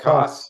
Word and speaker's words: Koss: I want to say his name is Jeff Koch. Is that correct, Doug or Ed? Jeff Koss, Koss. Koss, yeah. Koss, thank you.